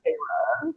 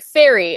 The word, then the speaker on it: Feyre: Pronounced Feyre. Yeah. Well, when I first saw it, I was like fairy, and then I was like, wait a minute.